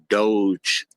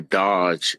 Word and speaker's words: Doge: uh the Elon Musk Doge or Dodge is depending on how you want to pronounce it.